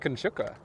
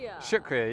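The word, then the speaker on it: शुक्रिया: Shukra. I'm not pronouncing it right, but like it means thank you. I read it on like an app. Shukriya.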